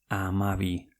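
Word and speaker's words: hamabi: Amabi.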